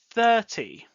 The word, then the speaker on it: thirty: 30. Really pronounce T. 30, not 13.